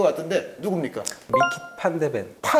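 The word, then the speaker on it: Van de Ven: 독일에서는 판데펜이라고 하죠. 독일에서는 다른 국가 선수들이 오더라도 독일식으로 발음해요. 그러니까 루디 펠러죠. 예. 그 영국 코멘터리에서는 루디 볼로라고 예, 그렇죠. 예전부터 많이 했거든요. 예, 그 마이클 발락이라고 하고 그 원리대로라면 판더펜, 판데펜이 되죠.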